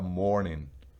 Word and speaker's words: mourning: Ya veremos algunos ejemplos, pero mire que la pronunciación necesita usted tener un oído demasiado fino para notarlo. ¿Dónde nota uno lo que si estamos hablando de morning o de morning? De la una o de la otra, pues por el contexto,